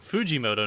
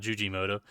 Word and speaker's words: Fujimoto: Fujimoto, not Jujimoto.